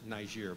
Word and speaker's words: Niger: works with ICM in Niger or you know some people pronounce it nice year but we're in the u.s. so he's from Niger's name is I don't